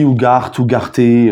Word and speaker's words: Ugarte: Donc Ugarte, alors je sais pas comment on dit, Ugarte, j'en sais rien. Moi en tout cas c'est un Sud-Américain, donc je vais le prononcer Ugarte.